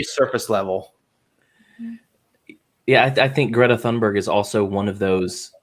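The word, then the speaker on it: Greta Thunberg: and the whole time this woman decided that she was going to pronounce greta thundberg the right way as if she was where greta thundberg is from and so the whole time she was going greater toonberry greater tombury yeah and i was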